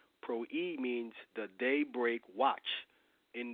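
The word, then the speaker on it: πρωΐ: It's P-R-W-I, and it's pronounced pro-e. Pro-e means the daybreak watch.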